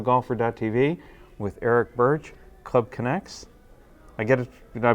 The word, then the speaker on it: Club Conex: for de voto golfer TV with Eric Birch Club connects I get it did I pronounce it right that's correct Club can I hope Club connects thanks for spending your time with us thank